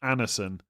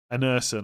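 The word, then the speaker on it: Andersen: I'm going to I'm going to be told I'm pronouncing something incorre but we do not pronounce the D. So the guy from Fulham is actually pronounced Anison.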